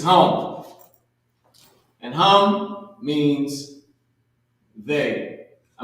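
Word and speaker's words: הם: Now this is not ham, because ham is pronounced chum. C-H-A-A-M. And that would be, in today's language, ham. Right? But that's not what we would write. We would write exactly how it's spelled, chum. Right? And that's ham. But this is hum.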